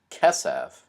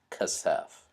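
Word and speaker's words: כסף: That's not so important, but in this case, when this happens, the first syllable is almost always the accented syllable. So it's kesef, not kasef.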